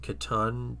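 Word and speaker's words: C'tan: Katan. Katan. Katon. Sitan. I There's I'm sure there's a bunch of different ways. I think his workshop pronounces it katan.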